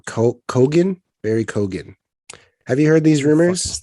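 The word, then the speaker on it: Barry Keoghan: Barry Kogan.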